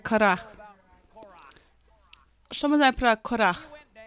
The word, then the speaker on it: Корах: Мы думаем корей, но вообще-то она произносится как карах.